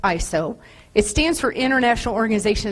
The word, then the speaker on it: ISO: And just to kind of throw you off, if you didn't know, it's actually pronounced ISO.